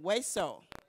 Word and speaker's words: hueso: Hueso. Notice the H is silent. Hueso.